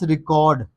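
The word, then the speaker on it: record: Next वर्ड है हमारे पास रिकॉर्ड।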